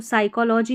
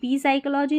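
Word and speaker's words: psychology: पी silent देखें पी एस और पी एन साथ में आते हैं ना स्टार्टिंग में इंग्लिश की स्पेलिंग्स में। तो यहां पर पी साइलेंट रहता है। तो इसको साइकोलॉजी बोलेंगे। निमोनिया बोलेंगे। हम पी साइकोलॉजी नहीं बोलते। पी निमोनिया नहीं बोलते।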